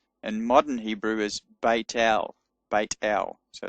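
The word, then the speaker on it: בית אל: They're both pronounced in modern Hebrew as a t sound, not as a th sound.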